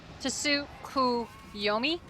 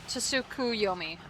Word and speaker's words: Tsukuyomi: Tsukuyomi? Tsukuyomi. Okay. More of a Su? Oh, so the T is silent?